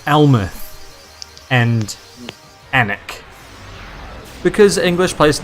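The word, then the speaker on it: Alnwick: are you now ah i'm an anik of course that's spelled like the english spell all their place names and uh by that i mean incorrectly um it's ellenwick um just outside of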